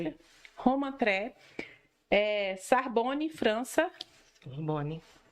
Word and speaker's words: Roma Tre: Isso, a Roma pronúncia? Tre. Roma Tre, Sorbonne, França, Sorbonne.